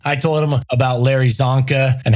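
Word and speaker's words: Csonka: In fact, I told him about Larry Zonka and how I loved watching him play on those old NFL films. Larry Zonka spelled with a C, throws you off.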